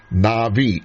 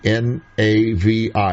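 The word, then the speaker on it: נביא: is a b but when it does not have the dot in the middle of the B the baith it's pronounced with a V sound it's aspirated so Navi it's a noun Strong's number 50 30.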